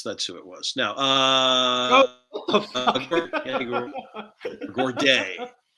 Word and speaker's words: Gourde: Now, Gourdet. Does he pronounce it Gourdet or Gordy? Oh, wait. Yanni Gord. Yanni Gord. There you go.